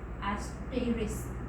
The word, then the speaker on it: asterisk: See here, this is not star, we have to pronounce it as an asterisk sign, right?